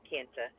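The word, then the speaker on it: Kinta: K I N T A Kenta Kenna Kenna Kenna however you pronounce it I don't know we always call it Kenna and also he parts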